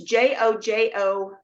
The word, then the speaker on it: jojoba: But it's Jojoba, but it's pronounced jojoba.